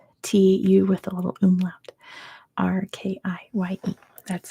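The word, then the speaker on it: Türkiye: It's spelled TU with a little umlaut. Turkye.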